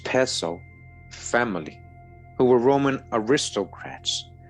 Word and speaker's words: Piso: New Testament, the church and Christianity were all the creation of the Kalperno pisel pronounced peso family who were Roman aristocrats.